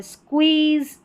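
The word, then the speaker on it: squeeze: फिर नंबर 2 वाला पैटर्न ले, अलग है, SQ और U, इसको स्क्व करके प्रोनाउंस करेंगे, SQU। तो इन सभी में स्टार्टिंग में है, जैसे स्क्वेयर, यह है स्क्वीज़ और यह है स्क्वेरल, स्क्वेरल।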